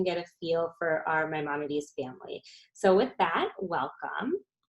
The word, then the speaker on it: Maimonides: Maimonides.